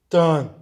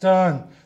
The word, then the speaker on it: done: Bit, bought, but, and then, din, don, done. Right. Okay, so again, this is the letter O, right? But this is not pronounced don. This is pronounced done. This is bun, this is done. These words rhyme, okay?